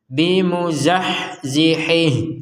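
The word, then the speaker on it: بِمُزَحْزِحِهِ: ini perhatikan ada ya ya kecil ini kecil ini menandakan bahwa huruf Ha ini harakatnya harus dipanjangkan dua Har dua harakat dengan syarat gabung dengan dengan kata berikutnya Kalau tidak maka hurufnya tidak panjang sama sekali contoh yang barusan bimuzahziihih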